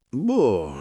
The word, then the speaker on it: boh: Pronuncia semplice, boh, con la o chiusa, tipo boc, ma senza la K, solo un accenno di chiusura. La vocale è lunga, ma non eccessiva e non serve aggiungere coda.